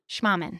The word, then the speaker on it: Schmahmann: Schmahmann.